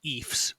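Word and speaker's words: Ephs: athletic teams are called the EES rhymes with Chiefs okay e chief it is a shortening of the first name of the founder Ephraim Williams okay okay or I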